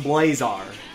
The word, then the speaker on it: Blazar: I like that song interesting okay so it's pronounced blazar all right that's good to know it's I